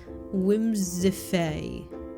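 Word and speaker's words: Whimsiphae: Wimisfae. That's how it's pronounced, but it's spelt W-H-I-M-S-I-P-H-A-E.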